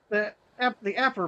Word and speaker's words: Apar: Yeah, Aper.